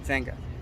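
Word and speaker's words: Wenger: or w-e-n-g-e-r okay um they pronounced it venga now i've heard of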